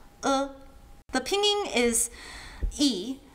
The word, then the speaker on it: ㄝ: Uh, next we have e, which is also an e in pinging, sometimes distinguished by italicizing it or adding a carrot on top. So for this sound, think of Homer Simpson saying me.